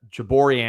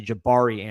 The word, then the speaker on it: Jabari: I said uh Jabori Antoine. It's actually Jabari Antoine.